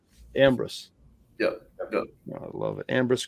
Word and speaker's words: Ambrus: didn't practice Ambrose before I kind of put the emphasis on the first part of the word I thought I got that right Ambrose yeah I love it